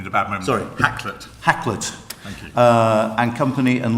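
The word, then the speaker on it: Hakluyt: servant, who currently works for, I can never pronounce it, say it. Caught me at a bad moment. Sorry. Hacklet.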